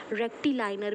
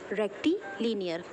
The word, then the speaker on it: rectilinear: नाउ see students, कुछ लोग इस वर्ड को, इस टर्म को रेक्टिलाइनर भी प्रोनाउंस करते हैं, and some people are also pronouncing it एज रेक्टिलीनियर. आपको जो कन्वीनियंट लगे यू कैन कॉल इट.